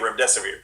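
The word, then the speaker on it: Remdesivir: hosts they couldn't say Rim desevered so I told them just remember it rhymes with run death is near and so that's what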